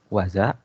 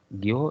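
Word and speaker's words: 業: Untuk kunyominya dibacanya waza dan onyominya dibaca gyo dan go.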